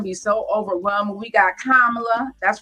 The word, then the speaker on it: Kamala: We got Kamala. That's right. Say her name right, Kama, with the lie.